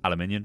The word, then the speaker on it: aluminium: is the American pronunciation otherwise known as aluminium which is the correct way to say it and iron um but